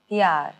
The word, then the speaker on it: प्यार: Pyar.